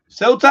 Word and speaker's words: Ceuta: Okay, I got my contact with Ceuta and Melilla. Wait, well, that's how you pronounce it, by the way.